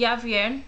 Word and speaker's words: Yavier: The baby name is gonna be Yavier, which is kind of like Javier but with a Y, so it's spelled Y-A-V-I-E-R.